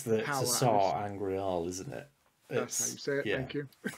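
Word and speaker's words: Sa'angreal: It's the Sar Angreal, isn't it?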